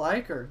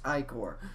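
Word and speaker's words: ichor: fill it with magical icer that's pronounced icor choose your i-core wisely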